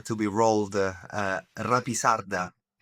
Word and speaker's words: Rapisarda: Uh Rapisarda. Oh, I can say Rapisarda.